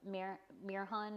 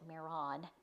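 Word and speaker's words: Mehron: So for the orange, I used yellow and orange of the Mirhan, or Miron, I think is how you pronounce it, Miron, not Mirhan, because it's M-E-H-R-O-N, so Miron.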